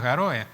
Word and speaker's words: Garoe: San Borondón, y también hablo del Garoé, la leyenda del Garoé, que en realidad no es Garoé, sino es Garoe. Es Garoe. Garoe. Sin acento en la E al final.